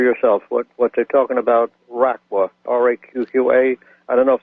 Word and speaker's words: Raqqa: What they're talking about, RAQQA, RAQQA. I don't know if that's the right pronunciation.